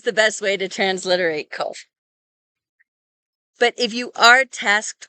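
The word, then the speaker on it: קוף: And when we do write the QU, it sounds like qu, and it sounds like a KW. And that is not how kof sounds.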